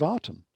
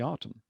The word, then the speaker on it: Aten: was the garden of artem and of course we we tend to say this uh we pronounce this with an a but in in some respects i think that's wrong because the artem was spelt with a